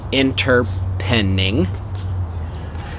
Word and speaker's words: Interpening: methodology what is interpreting interpreting pronounced inter pending these are the science